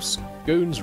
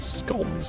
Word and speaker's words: scones: Oh, March here informs me that an educated circle scones rhymes with bones like scones. Yes, correct. Because of how you spell it. Not scones like we've been saying.